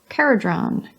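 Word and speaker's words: Kharadron: Caradron, with the k as in cat.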